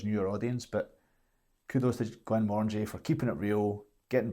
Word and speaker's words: Glenmorangie: which is, like many Scotch whisky brands, often butchered. They did it in a humorous way. How do you... Glenmorangie. Glenmorangie.